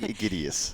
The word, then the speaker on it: Aegidius: me how to say your last name idus idus okay I'm sure I've I've heard that before it's been butchered many times but whenever I see I